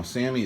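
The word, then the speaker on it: SAAMI: reshaping it rather to a sami spec now sami is spelled s-a-a-m-i and it's the universal spec for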